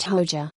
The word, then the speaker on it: Hoxha: Abu Hamza al-Amriki's real name is Zulfi Hoxha, pronounced Hoja.